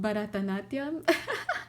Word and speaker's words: Bharatanatyam: It's called Bharatanatyam. I know, I'll just spell it for you.